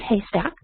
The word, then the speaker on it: HASTAC: So it's out of the program that they call it HASTAC, but they pronounce it Haystack.